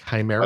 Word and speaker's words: Chimera: it's pronounced Chimera.